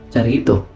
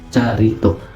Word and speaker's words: charitoo: kanyang word sa Greek ang transliteration niya po ay Charito Charito ang pronunciation niya Ayan Charito So anong kung ano